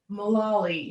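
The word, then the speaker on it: Mulally: world and who's this say his name again malawi m-u-l-a-double l-y and he is the ceo who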